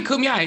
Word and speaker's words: Kumeyaay: Originally from the Viejas Indian Reservation in the Kumeyaay. I told you I did not pronounce it right. It's okay, Kumeyaay. It's all right. No one gets it right the first time. Kumeyaay, yeah.